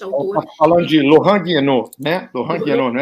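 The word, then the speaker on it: Guénon: Esse Gui, a gente esquece, lê como se fosse esse Y aí, é Guienot, vira Guienot. E o Q você esquece também, não pronuncia, é Guienot.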